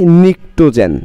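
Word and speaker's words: pnictogen: নাম আছে, সেটা হচ্ছে পি, পি দিব প্রথমে, নিকটোজেন, নিকটোজেন, পিটা সাইলেন্ট থাকবে, নিকটোজেন্স, একটা তো না অনেক, নিকটোজেন্স, পিটা সাইলেন্ট থাকবে, পিটা উচ্চারিত হবে না, প্রোনাউন্স হবে না, নিকটোজেন, এটার নাম কি?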